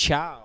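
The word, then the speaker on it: ciao: It's chow. It's spelled like chaos without the S.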